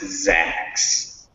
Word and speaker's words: Zax: zax that's when you see that word that's pronounced zacks um and this is first line short just